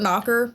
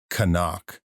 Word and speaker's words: Knock: Um But before that because we haven't talked about Herr Knock is it Knock or Knocker? I wrote Knocker but I don't think Knocker it's it's Knock.